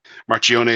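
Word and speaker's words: Marchionne: Marchione. Is that how you say it? Yeah, you did it about as well as I could. Yeah. Marchione.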